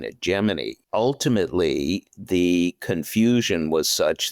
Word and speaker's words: Gemini: In his new book, Gemini, Stepping Stone to the Moon, The Untold Story,